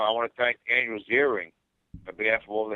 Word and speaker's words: Ziering: The millions of people viewing this now, I want to thank Andrew Ziering on behalf of all the hair loss sufferers for making this possible.